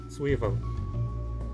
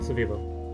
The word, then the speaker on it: Zwiebel: Já quando ele ocorre depois de uma consoante, que é mais comum depois de um sh ou de um ts, ele costuma ser pronunciado como um W mesmo. Então, Schwein, Zwiebel, em vez de Schwein, Zwiebel.